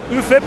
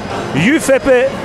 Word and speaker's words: UFIP: UFIP, as you pronounce it in Italian, Union Fabbricanti Italian Piatti. So there you go. If you're all wondering what it means, there you have it. UFIP or UFIP, whatever you